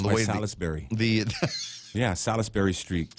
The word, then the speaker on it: Salisbury: Yeah, Salisbury Street. Salisbury, I think is how it's pronounced. Is it Salisbury? Salisbury steak. I just heard it. Every traffic reporter I've ever worked with has called it Salisbury.